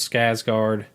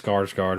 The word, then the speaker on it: Skarsgård: kid you know and Bill's Skye's guard I think I pronounced that right yes skarsgård my bad but you know him